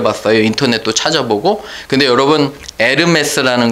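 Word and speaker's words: Hermès: 근데 여러분 에르메스라는 거 들어보셨어요? 에르메스? 에르메스가 뭔지 아세요? 에르메스라는 원래 말이 헐미스, 헤르메스에서 나온 거예요. H가 묵음으로 돼요.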